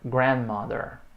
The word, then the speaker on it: grandmother: Gloria is her grandmother. And Larry. Tá aqui ele. Larry is her grandfather. Good. Lembrando a sílaba tônica é a primeira.